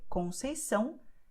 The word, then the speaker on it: Conceição: So you have the letter C cedilha, which always will sound like S, like sun. So you say Conceição, Graça.